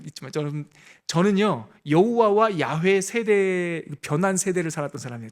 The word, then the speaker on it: 야훼: 어떤 발음이 좀 더 정확할까라고 음성학자들, 히브리 언어학자들이 연구했는데 그 발음이 야훼예요. 야훼. 그래서 근데 이걸 100%라고 말할 수 없어요. 99%라도 함부로. 그냥 많은 학자들은 여호와 하나님의 오리지널 발음은 야훼였을 것이다 이렇게 보고요.